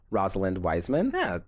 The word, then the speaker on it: Rosalind Wiseman: And it was based on a nonfiction self-help book called Queen Bees and Wannabes by Rosalind Wiseman. Yeah, correct. That's the correct way of pronouncing it.